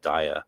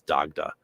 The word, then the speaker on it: Daghdha: If you have the not modern Irish spelling, it would be Daghdha, which would be actually pronounced Daya, almost like the Latin Deo.